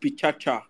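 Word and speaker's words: PechaKucha: so it's called a picture culture presentation um it's spelled picture um is pronounced picture but it's spelled pichakucha um it is 20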